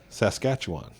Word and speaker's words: Saskatchewan: say like most people who aren't from there say it's saskatchewan they like it's really pronounced right saskatchewan yep like people say calgary and so i would say to them i said to them say it like this say saskatchewan but stutter one stutter saskatchewan yeah and so then they they would all hit it that way so they said